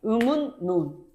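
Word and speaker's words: 음운론: 음울이 아니죠. 뭐라고 해? 음. 운 논이라고 발음해. 음운논.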